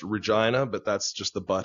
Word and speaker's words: Regina: It's actually pronounced Regina, but that's just the butt of way too many jokes.